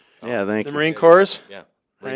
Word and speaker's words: Corps: Marine Corps. Yeah, Marine Right? Corps. Marine Corps. Yeah, Sorry, with the S is silent.